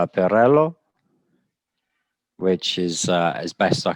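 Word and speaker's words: Pirrello: Oh, it's yes, Italian. Well, he's Belgian, but it's an Italian name, Pirello. Pirello.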